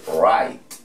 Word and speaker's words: right: o correcto, R, I, hay que colocar G, H. No van a tener ningún tipo de incidencia. Y vamos a colocarle la T para decir right.